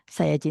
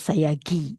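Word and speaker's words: Sayagyi: If you find this is difficult, it's somebody they pronounce as Sayagi. It's not Gi, It's a GY this is how they write in Burmese. GY actually pronounced as JI, so yeah, G, all right?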